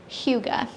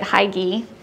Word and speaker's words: hygge: this month's box is Huga which um I used to pronounce it high GE it is not that I was calling it high G for a while oh I like that